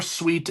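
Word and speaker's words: suite: Now it's spelled differently, but sweet as in kind, sweet as in sugary, or sweet as in another word for an apartment or a hotel room or something.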